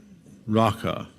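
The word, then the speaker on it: raca: the way it's pronounced, it sounds like the noise you make when you're clearing your throat to spit. I won't demonstrate, but you can practice in the solitude of your room. Raka.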